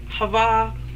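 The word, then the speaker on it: חַוָּה: H A W Ah is pronounced shava which is even English shava. Hava in Hebrew because she became the mother of all the living.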